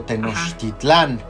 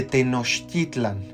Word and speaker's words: Tenochtitlan: Generalmente dicen Teotihuacán o Tenochtitlán. No, realmente, si uno quiere pronunciarlo lo más cercano al náhuatl, estaríamos hablando de Tenochtitlan o Teotihuacán.